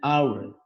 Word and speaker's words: hour: Dan ini kan an hour, maka pakai an. Oke, ini penjelasannya. E apabila diucapkan seperti H, an apabila H-nya dihilangkan atau tidak bersuara H, tapi malah yang terdengar adalah A, maka pakai N.